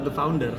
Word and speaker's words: The Founder5: bacanya tetap The Founders. Oh, The Cuman Founders. logonya itu S-nya Ada. diganti 5.